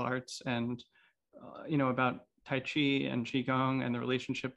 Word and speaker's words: Taiji: internal martial arts are tai chi or really should be pronounced tai chi with the j sound which is how it's phonetically pronounced in mandarin chinese uh bagua zhang and